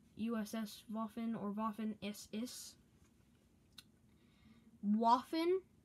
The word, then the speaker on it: Waffen: Waffen. Is like it was spelled with a W and not a V,